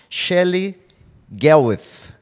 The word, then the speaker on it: Shelley Gawith: very special guest a nutritionist based in wellington shelly garwith is did i pronounce your name correctly i'm always concerned about